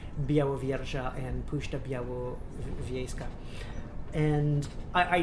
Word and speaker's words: Białowieża: Ooh, by the way, speaking of Białowieża, I've had confirmation that I'm actually pronouncing it okay.